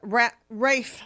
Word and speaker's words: Ralph: It was Rafe Fiennes. Oh, I don't It's even. spelled like Ralph.